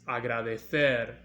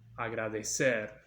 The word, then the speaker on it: agradecer: This is agradecer in Spain, but here in Latin America we pronounce it agradecer.